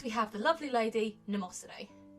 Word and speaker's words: Mnemosyne: It's one of those weird silent M things.